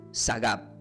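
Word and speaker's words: שָׂגַב: No se olviden, la palabra exaltado del hebreo se pronuncia como sagab, puesto en lo alto, en un lugar seguro, fuera del alcance del enemigo.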